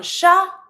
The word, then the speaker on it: chat: Un chat, des chats. Don't pronounce the T when it's singular, and don't pronounce the TS.